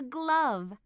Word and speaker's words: glove: lamb this is a glove what's the ending sound in glove that's right glove can you hear the e sound in glove no that's right the e is silent glove page 66 be